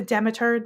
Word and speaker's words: Demeter: It's pronounced demeter. Yeah, the demiter.